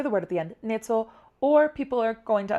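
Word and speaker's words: ནེ་ཙོ: Nezo means parrot. Na, jengbu, ne, za, naro, zo. And you have the choice. You can say the word at the end, nezo, or people are going to understand it.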